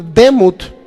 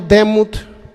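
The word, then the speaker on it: דמות: Es una palabra hebrea que se llama, o se puede pronunciar, se podría decir demut. En nuestro castellano, demut.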